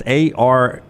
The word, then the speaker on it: Aramco: It's ARAMCO, Aramco.